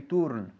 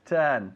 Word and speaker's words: turn: okay to turn down be careful with the pronunciation we don't say turun okay it's turn to turn down okay